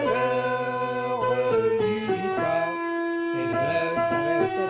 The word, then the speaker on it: heure: L'heure. Combien de syllabes ici? Réfléchissez bien. Oui, très bien. 2 syllabes. 2 syllabes. Le R. Ici, H est une lettre muette.